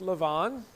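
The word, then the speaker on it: לבן: are introduced to Laban in the Hebrew it's pronounced Lavon Lavon means White and again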